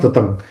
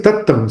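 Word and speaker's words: tattaṃ: Katmocha bhikkhave upayaso, yokho bhikkhave anyatarantarena vyasanena samannagatasya anyatarantarena dukkha dhammena puttassa ayaso upayaso ayasi tatang this is not tatang, this is ayasi tattam.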